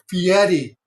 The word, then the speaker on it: Fieri: I knew I Fieri. was saying it all wrong. I suck at pronunciations. You're fine. It's Fieri. A lot of people get it screwed up.